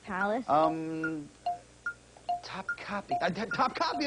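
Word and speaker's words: Topkapı: Topkapi Palace. Top Copy. Top Copy, that's how you say it.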